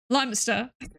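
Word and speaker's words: Lyminster: Is there a brilliant video on Insta where some guy comes up with nice names for towns and the council overrides him with how they say it? So, we have Lion Minster Limester.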